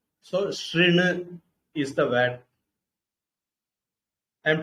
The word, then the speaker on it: शृणु: So the vowel has to be pronounced R. That is, you keep your lips like when you say E, but you pronounce U. When you round your lips, you pronounce U. But here you try to pronounce U, but keep your lips wide by side, like in case of E. So it gives you R.